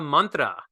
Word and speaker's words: mantra: Indian culture and language it's Mantra right Mantra yantra Tantra right not mantra so okay we got